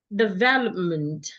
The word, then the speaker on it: development: So should I add the suffix m e n t again the letter e there will be reduced into a sure. So I have development development not meant it is not a a sound it's m development development I love the development